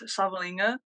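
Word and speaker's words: Savaliga: so my name is Savalinga. Pronounced with an N, spelled without an N.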